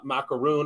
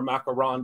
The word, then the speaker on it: macaron: The only color that's not included is purple, unfortunately, but eventually I did use macaroon or macaron, depending on how you say it.